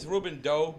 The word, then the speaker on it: Rouben D03: So it's Rouben Doe, but Doe? it's spelled D03. Okay. No doubt. You know, That's so, what's up. Kind of like John Doe, basically trying to focus more on the music and the message.